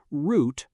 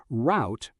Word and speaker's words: route: In British English, route rhymes with root. In American English, route rhymes with out.